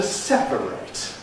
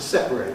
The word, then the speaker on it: separate: We have a verb to separate, to separate things. We also have an adjective, separate. Notice the difference in the treatment of the suffix.